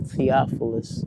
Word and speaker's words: Thepolis: It's pronounced in the Bible, Thepolis.